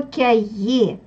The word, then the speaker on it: cahiers: Ouvrez vos cahiers. Вот это слово имеет H в середине. Она не читается.